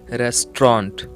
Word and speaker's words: restaurant: At your restaurant, get इसे हम कहेंगे रेस्टोरेंट। रेस्टोरेंट, ए और यू लेटर साइलेंट रहेगा।